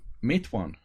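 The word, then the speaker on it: Matewan: this in its it's actually prints make one mate one yeah I was called in Matawan as well until they watch the movie and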